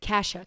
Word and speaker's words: Kashuk: I don't know how to pronounce it. It's from Target. It's the big black and white. Kashuk? Kashuk.